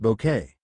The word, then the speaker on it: Bucket: me of an evil Mrs bucket pronounced bouquet as you may suspect